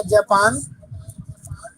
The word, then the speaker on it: Japon: जापान को बोलते हैं जापों, जापान। JAPON, जापों। Okay sir. APON, जापू।